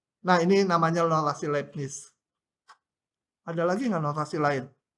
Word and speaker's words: Leibniz: Leibniz, bacanya Leibniz katanya.